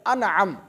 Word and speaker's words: انعم: وہ ہے انعم۔ انعم، بعض لوگ اس کو انم بھی بولتے ہیں، انم یہ صحیح تلفظ نہیں ہے، صحیح لفظ ہے انعم۔ انعم کا مطلب ہوتا